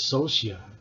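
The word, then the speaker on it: Scioscia: greg brock nice skillshare i think it's social actually that's how you say his name mike socia isn't he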